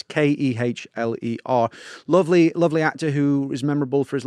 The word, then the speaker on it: Kehler: He's played by an actor called Jack Keller, who Right. or Kerler, I don't know how you say his name, it's Kehler.